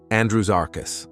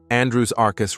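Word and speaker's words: Andrewsarchus: in width number seven Andrew zarus It's s not Z Andrew zarus not Andrew zarus lost to the sands of time Andrew's Arcus remains an enigma Andrew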